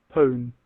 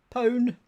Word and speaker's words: pone: I also don't know how you say it. And the computer tells me... Pone. Pone.